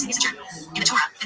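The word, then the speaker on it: יששכר: of correct Hebrew grammar, the name is pronounced Yisachar, with 1 sin.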